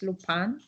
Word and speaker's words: Lupin: is called um lupan lupin is in french this is the spelling but as is french the pronunciation is lupan and i love that